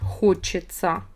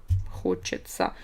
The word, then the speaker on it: хочется: In present tense, хочется. Хочется. Pronunciation, don't forget. I'm not tired of saying it again and again. Sounds like ца.